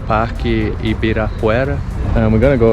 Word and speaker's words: Ibirapuera: That's Ibirapuera. It's hard for you to pronounce that.